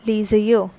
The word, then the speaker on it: les yeux: Right, so how it is pronounced? That is les yeux.